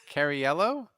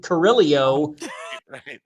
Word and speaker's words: Carriello: Ralph, how do you pronounce my last name? Carriello. All right. But remember the first 3 years of the podcast you were on, we were calling you Carrillo.